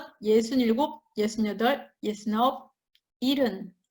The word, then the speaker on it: 일흔: 예순 여덟, 예순 아홉, 일흔. C'est écrit ilhun, mais on ne prononce pas fort hun, quand on prononce comme ilhun. 71, 일흔 하나, 일흔 둘, 일흔